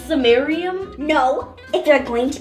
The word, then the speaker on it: samarium: it so this red liquid over here is summarium um it's pronounced samarium no if you're going to be my class